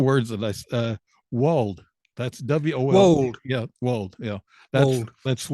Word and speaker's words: wold: He's written 6 books, and these books are writing genre fiction, creating imaginary worlds, Yorkshire's weird wolds, saints and sinners in Dark Age England.